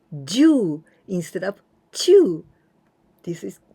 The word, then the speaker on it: 中: But when we pronounce this one, Jyuu instead of 中に and Jyuu without any particle, 夏休み中, it means from the first day of the summer holidays till the last day of the summer